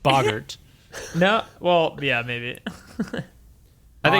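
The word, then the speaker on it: Boggart: It might be pronounced Bogart. No, well, yeah, maybe. I think Boggle. because I never read that far in the books. Yeah, it's Bogart.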